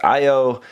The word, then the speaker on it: Io: The Japanese pronunciation is Io, the English pronunciation looks like it should be pronounced Io, kind of, so I don't know, go with whatever you want.